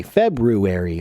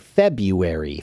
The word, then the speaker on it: February: much says the word February February February so they they re-root they have removed the first R in the word February when they pronounce it okay so when I